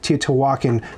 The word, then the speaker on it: Teotihuacan: But Teotihuacan, with the emphasis on the hua, is apparently how you're supposed to do it.